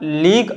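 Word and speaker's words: league: और अगर आप लीक और टंग को रीड करोगे तो देखिए इन दोनों में यू तो साइलेंट है लेकिन जो लास्ट में ई आ रहा है ई भी साइलेंट है, यानी लीक और टंग में दोनों में यू और ई लास्ट में दोनों साइलेंट है, ठीक है।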